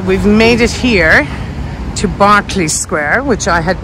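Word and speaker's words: Berkeley Square: okay guys so we've made it here to Barclay Square which I had mispronounced in my previous Mayfair video and we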